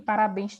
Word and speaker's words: parabéns: obrigatoriamente eu sei que parabéns tem acento. Por quê? Porque eu sei que parabéns é uma oxítona, a sílaba mais forte é bens, é oxítona e é terminada em NS.